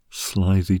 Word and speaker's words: slithy: that has often been asked me how to pronounce slithy Toves the i' in slides is long as